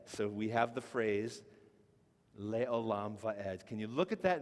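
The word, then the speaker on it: לעולם ועד: So we have the phrase, Leolam Vaed.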